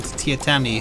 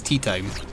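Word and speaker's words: Teatime: There's an assassin named Tiatami who everyone pronounces Tea Time.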